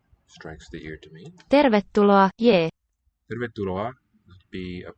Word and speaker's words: tervetuloa: I can just tell from looking at the word how many syllables it's going to be, how many beats if I counted it out. Everything's very regular and predictable. Ter. This R is closing a syllable.